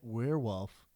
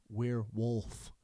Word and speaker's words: werewolf: Oh, it's their giant werewolf kettlebell. Their what? Werewolf kettlebell. Please say werewolf. Werewolf. Don't say werewolf. I did. You said werewolf. Werewolf. Okay. You have to pronounce the L.